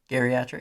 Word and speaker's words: geriatric: Geriatric. It's pronounced geriatric. I mean, It's a hard G, babe. it is. It's a very hard G geriatric.